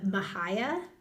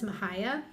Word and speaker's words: Mexia: And it's in a town, okay, I had to put the pronunciation, Mahia or Mahia, but it looks like Mexia with the way it's written.